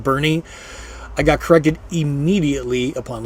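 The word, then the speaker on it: Boerne: of a German word they dropped the little two dots over the O so it's pronounced Bernie I got corrected immediately upon Landing in Bernie Texas um again there's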